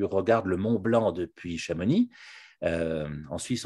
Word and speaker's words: Chamonix: le mont blanc depuis chamonix en suisse on dit chamonix en dippach amonix chez nous on prononce pas le x finale moi non plus mais